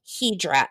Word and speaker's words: Hydra: Greek island to you is called hedra it's spelled Hydra in American it's called hedra there are no Cars